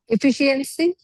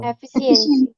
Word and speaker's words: efficiency: Efficiency. नो, Efficiency. नो, efficient, इट्स एफिशिएंसी।